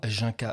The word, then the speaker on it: Junka: Oui, je suis aussi connu, je précise, sous le nom de Junka. Je précise, ça se prononce Junka et pas non Yunka ou Junka, parce qu'on a déjà fait la réflexion.